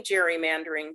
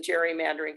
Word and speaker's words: gerrymandering: you who don't know we're all probably pronouncing it incorrectly because um the name gerrymandering came from a governor of massachusetts who his name was um gary so we should